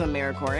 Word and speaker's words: AmeriCorps: AmeriCorps is alive and well, just spelled with a silent P. So, think of apple core or core of the earth. Now that we have that clear, what exactly is AmeriCorps anyway?